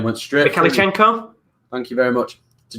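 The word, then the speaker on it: Mykhailichenko: Bloody hell, that's a hard name to pronounce. Mikhailichenko and Junior Marash have come onto the pitch. Yaremchuk and Zubkov have come off. Hopefully, that's quite a decent pronunciation. Mikhailichenko, that's how you pronounce it.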